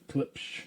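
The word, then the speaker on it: Klipsch: How do you pronounce that again? Clipsage? Clips. Clips. Don't ask me. Klipsh. Clipsh. That's right.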